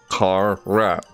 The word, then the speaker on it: Carrat: all right yeah tear it tear at like car rat car at let's close carrot you here the carrot I don't I'm pronouncing it right it's like tear at like